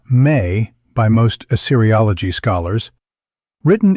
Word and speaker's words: me: The mi pronounced approximately as may by most Assyriogology scholars